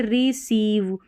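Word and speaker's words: receive: इसको यहां पर सीव करके पढ़ेंगे। यानी इसको हटा दें। यह वाला उच्चारण है सीव। जैसे देखिए रिसीव।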